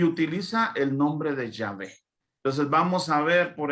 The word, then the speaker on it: Yahvé: Y yo soy en hebreo se pronuncia Yahvé.